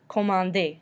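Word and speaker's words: commander: order at a restaurant comandi we do not pronounce the R at the end because this is an ER verb too vain to find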